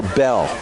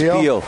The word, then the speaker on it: Beal: And is it pronounced Beal or Bell? It is Beal. Because we've got some Bells that spell it that way as well.